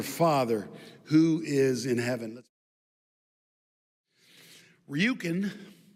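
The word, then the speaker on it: Rjukan: Ryukin is a town in Norway. Ryukin. And it's spelled RJ Ukan.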